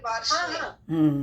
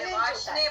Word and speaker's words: Varshney: तो आर तो आता है ना फिर, वार्षने। वार्षने, ओके ओके ठीक है, आगे से मैं ध्यान रखूंगी। वार्षने, लेकिन आर ना साइलेंट है, वाशने बोलते हैं ये लोग।